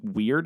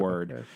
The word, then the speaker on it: Wyrd: Hellboy Web of Wyrd, which I thought it was weird. It was called weird, but it's WYRD. And yeah, there's a story there. It's so just like forget about it. WYRD. Yeah, it's pronounced gotcha.